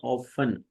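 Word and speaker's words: often: आई ऑफन walk in the morning, T इसमें silent है, ऑफ्टन नहीं, ऑफन, अक्सर, सेल्डम, कभी कभार या बहुत कम, समटाइम, बाज़ औक़ात, नेवर, कभी नहीं।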